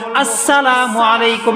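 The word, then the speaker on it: السلام عليكم: আলাইকুম আছে না নাই হ্যাঁ হামজার উচ্চারণ নাই সিন লাম কিচ্ছু উচ্চারণ সঠিক ভাবে নাই এইজন্য নবী বলেন আমার একটা সুন্নতকে বান্দা তুমি জিন্দা করো জিন্দা করো এমন একটা সুন্নত যেই সুন্নত সমাজ থেকে উইঠা গেছে এই যে একটা সুন্নত আসসালামু আলাইকুম না না এখন থেকে আমি আপনি একটা সুন্নতকে পালন করা শুরু করি আসসালামু আলাইকুম ওয়া রাহমাতুল্লাহ শুরুতে হামজাকে উচ্চারণ করে বলবো আসসালামু আলাইকুম সকলে পড়ি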